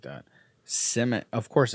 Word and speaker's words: Simic: Simic.